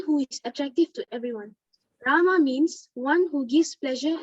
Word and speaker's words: Rama: The words Hare, pronounced Hare, Krishna, pronounced Krishna, and Rama, rhymes with Rama, are Sanskrit words.